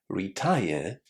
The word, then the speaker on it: retired: Well, it happens because retired comes from retire. And in English, when you add an ed ending in a situation like this, you don't add any extra syllables. That means that we have to say retire and then add the d sound.